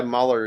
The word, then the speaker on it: Marlar: Your top 5, Stuart Friesen, Sheldon Creed, Grant Enfinger, Mike Marlar. Is that how you say it? Yeah, Marlar, yeah.